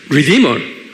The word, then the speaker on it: redeemer: redeemer 그래요. redeemer. 입으로 하면 redeemer. 액센트가 D에 있어요.